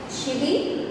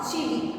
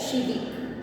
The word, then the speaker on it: chivvy: Shivi, to run after and disturb. Remember, this is not chivi. Okay, remember the pronunciation, that is shivi.